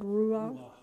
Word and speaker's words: ruach: How do you pronounce that word? Ruach?